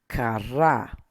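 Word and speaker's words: קָרָא: The next one is kara. Kara. Emphasis is here. Ka. So kara. Kara.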